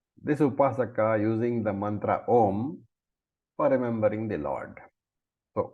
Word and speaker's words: Om: So, very nicely pointing out that Om is to be pronounced Eka Aksharam, one syllable. So, which means what? Om. Not Aum, not AUM. There are so many people who pronounce so many ways, but Om is Eka Aksharam, Om.